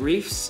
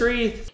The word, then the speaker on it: wreaths: been using the Thanksgiving reefs for our Christmas what are you saying reefs there's no f in it re it's